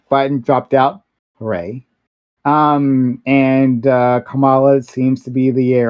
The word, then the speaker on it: Kamala: Look, Kamala, which is how I understand her name is pronounced, lost the last primary pretty handedly, got just destroyed.